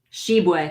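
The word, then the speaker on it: Tshiebwe: very well do you know Tim it's she sheway okay nice perfect yeah exactly I mean he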